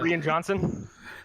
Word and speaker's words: Rian Johnson: someone says his name, because it's spelled like rain. Like rain. Yeah, right. It doesn't register. Yeah. Yeah, I can see that. I should pronounce the I next time just to clue you in.